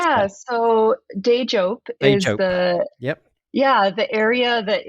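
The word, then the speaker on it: Teejop: How do you pronounce that? Yeah, so Dejop is the the area that is currently known as Madison, which is the capital of the state of Wisconsin.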